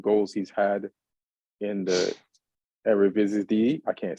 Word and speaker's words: Eredivisie: he's had in the Eredivisie. I can't say it right. The Dutch league, the Eredivisie. That's the right way to say it.